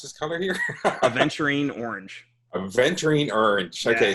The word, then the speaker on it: Aventurine: So, how do you pronounce this color here? Aventurine orange.